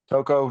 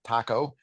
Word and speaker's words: Toco: and by the way it is Toco not Taco sometimes um people uh